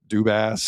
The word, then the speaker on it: Dubas: get the way the Penguins got uh Dubas's name wrong. Oh, yeah. I We are very Fenway Sports Group. We are very happy to announce Kyle Dubas. Dubas. It's ass. There was an ass in it.